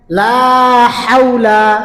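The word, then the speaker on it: لا حول: এখানে এখান থেকে লা হাওলা মুখটা গোল করবেন ওয়াও এবং পেশ। এই দুইটা জিনিস উচ্চারণের সময় ফোর যত গোল করবেন অত সুন্দর উচ্চারণ হবে।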